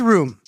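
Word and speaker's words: rheum: substance technically known as room but not like living room or bedroom this room is spelled r h e u m and it's g r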